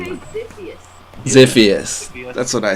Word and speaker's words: Xiphos: is taking him to Xiphos or however you pronounce his name. I say Ziphius.